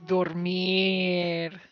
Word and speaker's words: dormir: Oh, el hijo es dormir. Oh, I see what you're saying. Dormir. It's on the last syllable, or on the last vowel. Sí. Dormir, or second to last.